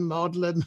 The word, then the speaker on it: Magdalen: he stands outside modern college and tries to pronounce it whether it's magdalene modeling or whatever it is so that really is